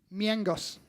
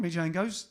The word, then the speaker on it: Mijangos: South American, so you pronounce the J differently. All right then, so Susanna Miangos, not Mijangos, don't say that.